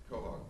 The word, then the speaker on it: Quahog: Quahog. Quahog, okay, got it.